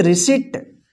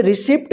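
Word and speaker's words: receipt: यहां पे देखिए RACEIPT, इसको क्या पढ़ेंगे, रिसिट। रिसिट का मतलब होता है रसीद, यहां पे रिसिप्ट मत पढ़िएगा, रिसिप्ट गलत होगा, रिसिट।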